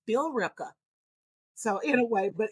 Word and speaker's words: Billerica: Well, I pronounce it as Billerica. Some, but people, who's from there, they say no, it's Billerica.